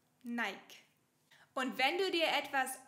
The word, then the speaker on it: Nike: Diese nach einer Siegesgöttin benannte Marke wird in Deutschland nicht Nike ausgesprochen. Wir sagen Nike. Nike.